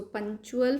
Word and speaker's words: punctual: So punctual, firstly you have to understand its pronunciation. इसमें CT आता है, but spelling हम कैसे CT spellings में आता है, but बोलने में ये word है punctual. च की साउंड आती है इसमें, राइट.